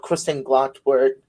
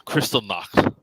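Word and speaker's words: Kristallnacht: was a night called christian glottal or in i believe it's in austrian meaning the night of the broken glass correct your pronunciation a little bit yeah it's a crystal knock yeah yeah it was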